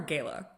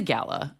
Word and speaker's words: gala: First of all, is it a gala or a gayla? It's a gala 100%. It's a gala to you.